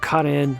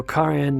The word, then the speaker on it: Karen: So Karen Minasyan, and by the way, that's the way you pronounce it. It's not Karen, but Karen. There is no Karen in Armenian, so it's only Karen.